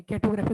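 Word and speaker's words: cartography: हाँ, आर are silent. Silent. हाँ, जैसे यहाँ पे ग्राफी, ग्राफी नहीं बोलते ना, ग्राफी। Are silent, कैटोग्राफी।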